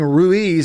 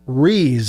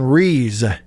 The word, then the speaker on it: Ruiz: actual correct pronunciation is reas as almost as if we're just looking completely past the u so he is brandon reese the kicker transfer from